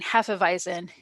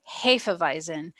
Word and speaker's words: Hefeweizen: and actually this whole time i've been saying half of eisen if you're ever around one of the widmer brothers technically is pronounced hafevizen and they will definitely correct you uh so